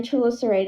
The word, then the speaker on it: chelicerae: Is that how you pronounce it? Yes. Yeah, their chelicerae together, and the hairs go together, and it makes like a hissing sound.